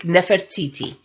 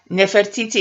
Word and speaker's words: Nefertiti: someone who looks like Nefertiti which is the you know in English you would say Nefertiti but Nefertiti is how I would pronounce it if we were speaking Atlantean so now let's see